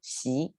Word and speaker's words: Xi: china is xi jinping so his surname is pronounced second tongue she and different character but it's the same pronunciation